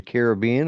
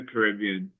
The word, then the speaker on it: Caribbean: Like, are you going to the Caribbean or are you going to Alaska? You know, it's like No, yeah, we'll be down. We'll be down in the Caribbean.